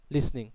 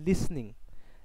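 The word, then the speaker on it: listening: আই এম not sleeping অথবা হি ইজ not playing অথবা আর নট লিসনিং they are নট লিসনিং again এটার উচ্চারণ হচ্ছে লিসনিং লিসেনিং উচ্চারণটা ভুল উচ্চারণটা হচ্ছে লিসনিং লিসনিং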